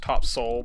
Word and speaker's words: Topsail: about a week in Topsail Island I guess it's pronounced top sole by the people around there but in like Surf